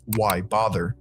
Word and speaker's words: Wybother: as short phrases like Wybother, which is pronounced why bother.